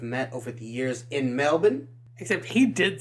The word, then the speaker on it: Melbourne: that's right so he knows yeah how it's pronounced and it's Melbourne definitely want to get out there and see